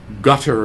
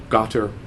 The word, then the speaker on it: Qatar: Well, that country gets pronounced in many different ways in the West. Gutter is actually one pronunciation, or Qatar.